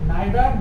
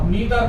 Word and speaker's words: neither: कर रहे हैं हम, नाइदर नाइदर नॉर, नीदर नॉर, कुछ भी कहिए।